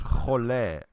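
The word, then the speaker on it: חולה: is pronounced cholé.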